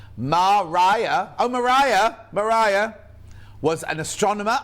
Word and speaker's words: Maria: Oh, Maria Mitchell, pronounced Mariah.